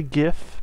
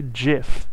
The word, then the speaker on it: GIF: enough to give and i am going to say gif because apparently jif is how you're supposed to pronounce that but i don't believe that i don't think that's cool there's like this thing on tumblr that keeps going by that like an official like textbook it says gif is pronounced jif but that's because that's a g there not a j so